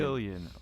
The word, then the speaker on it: Cillian: Help me pronounce this one. Is it Cillian or Cillian O'Brien? Cillian O'Brien. Cillian.